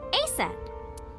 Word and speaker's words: Aset: In ancient Egyptian, it's pronounced closer to Iset or Aset.